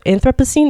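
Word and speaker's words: Anthropocene: Um, fun fact, but um, he he did that in in this book and like you know um, anthrop anthroposine. Is that what how is it pronounced?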